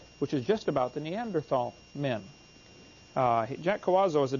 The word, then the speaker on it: Neanderthal: By the way, in case you don't know, the Neanderthal, the H is silent, Neanderthal man is named